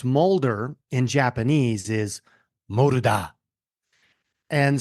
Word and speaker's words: Mulder: Like, it shouldn't be hard, but yes, Mulder. We've been called murder, mule deer.